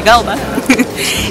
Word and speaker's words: Gouda: Gouda, pero al parecer no se dice Gouda, se dice Gouda.